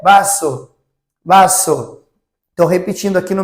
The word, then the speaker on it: vaso: Então, quando a gente for pronunciar uma palavra com V, por exemplo, copo em espanhol é vaso.